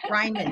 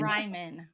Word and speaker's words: Reimann: I there I went and said it wrong Ryman Ryman we will get it by the end of the show I promise pronunciation guide in our show notes so everybody